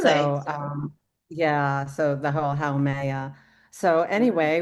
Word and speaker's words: Haumea: And just from Haumea, I'm going to try and pronounce every syllable now. Haumea.